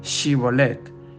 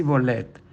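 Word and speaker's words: Shibolet: efrateo Se respondía no Entonces le decían ahora pues di chibolet y él decía sí bolette porque no podían pronunciar correctamente Entonces le echaban mano y le degollaban junto a los vados del Jordán y murieron entonces de los Efraín cuarenta y dos mil es decir una región de Israel no sabía pronunciar la H Y en vez de decir chivolette decía cibolette nos pasa a nosotros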